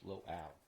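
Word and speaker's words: LOAL: So, lock on before launch is pronounced low ball. Lock on after launch is low owl.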